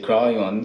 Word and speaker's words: Kryon: and they used to write down as they pronounce the name like the sound of it we say cryon so it's k r y o n and